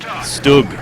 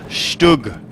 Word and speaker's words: StuG: and the Stug. Stug, like book. It should rhyme with book.